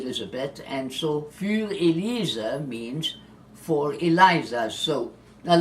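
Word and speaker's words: Für Elise: German or it is a bet and so fuel ELISA means for Eliza so a lot of people mispronounce this as you know as Fur Elise oh it's not thoroughly it's fuel it is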